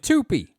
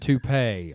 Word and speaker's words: toupee: Horse Divorce, and Tupi. Hors d'oeuvres and toupee.